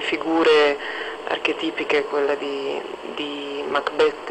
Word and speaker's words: Macbeth: In quale ruolo Lady Macbeth Lady Macbeth Anzi perché abbiamo deciso che l'accento cade sull'ultima sillaba e quindi ci sforziamo di dirlo anche se in italiano siamo abituati al Macbeth ehm parlare del del